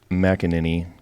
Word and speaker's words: McAneny: in the studio we are speaking with mckinin got that right right that's right right perfect it's not an easy one to pronounce no it's not so uh keeping on